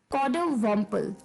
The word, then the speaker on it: coddiwomple: वो थोड़ा सा अटपट है, तो जो उसकी प्रोनाउंसिएशन है वो थोड़ी सी अटपटी लग सकती है आपको। कॉडोवम्पल।